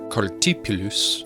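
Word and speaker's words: Cartaphilus: This all eventually leads to Cartiphilus and Joseph. And Cartiphilus, or Cartipulus for you pronunciation Nazis, is also known as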